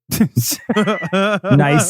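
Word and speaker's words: gneiss: Nice is spelled with a G-N.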